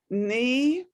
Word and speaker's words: knee: to spell them knee most of the time if a word starts with k in you have to write the k but you don't say it you just write the n i mean just say the n but you have to write the k in okay and and then shoulder